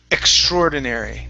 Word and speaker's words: extraordinary: the word extraordinary now there's two ways to pronounce this you guys some people actually separate the two words because we have the word ordinary and we have the word extra and they say extraordinary right and they really